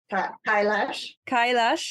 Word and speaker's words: Kailash: Kailash in Tibet.